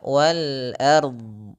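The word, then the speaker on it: والأرض: Ah, ini sedikit tidak akurat; Seharusnya wal ard. Huruf a tipis, huruf r tebal, huruf d tebal .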